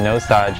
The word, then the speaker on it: Nosaj: saw my name backwards try to pronounce the name it's you know nose Dodge and it just made me think of like no such like no such thing you know Mozart did